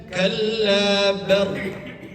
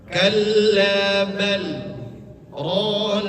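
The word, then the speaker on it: كلا بل ران: Jangan sampai kita berhentinya kalla bar. Jangan jangan mentang-mentang di sini ada tasdid. Lantas kemudian kita bacanya bar berhenti. Jangan. Caranya kita pisah aja dulu. Kita pisah dulu. Kalla bal kemudian rona.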